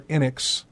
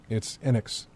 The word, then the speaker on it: Enix: It's Enix. No, or it's Enix, not Enix, but it's Enix.